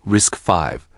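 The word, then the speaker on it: RISC-V: RISCV pronounced risk 5 was born at the University of California.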